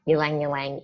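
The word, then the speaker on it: ylang-ylang: The next one is ylang ylang. Is that the correct pronunciation?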